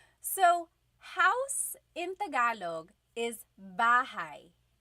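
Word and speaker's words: bahay: Okay, so house in Tagalog is bahigh. Bahai. Try saying that with me. Bahai. Bahai. You might notice that the spelling is a y at the end. So it looks like bahi, but it's pronounced bahigh.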